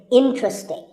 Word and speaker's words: interesting: sometimes as interesting but there are only three syllables and the stress is on in so the word is interesting number 12 is hotel